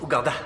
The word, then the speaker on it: Ouganda: Ça se prononce Ouganda.